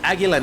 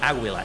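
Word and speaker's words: Águila: that I'm someone like agila Negra the the the YouTuber uh that's how you pronounce it by the way it's not AUA it's agila name but let's say that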